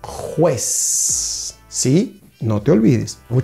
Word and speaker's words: juez: Então vamos fazer a pronúncia em espanhol, árbitro, árbitro. Do outro lado, juez, juez.